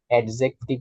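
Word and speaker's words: adjective: এটার প্রোনাউন্সিয়েশনটা অ্যাডজেক্টিভ না, এটার প্রোনাউন্সিয়েশনটা হচ্ছে অ্যাডজেক্টিভ। এটা ডি যেটা আছে এটা সাইলেন্ট।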